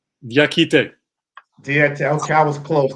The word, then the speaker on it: Diakite: I hope I don't say your last name wrong. Diakite. Did I say Diakite. Diakite.